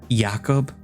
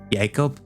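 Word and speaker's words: Jakub: Um Jacob and I'm pronouncing it that way because apparently it's, I guess, supposed to be pronounced Jakob, Yakob, Yakob.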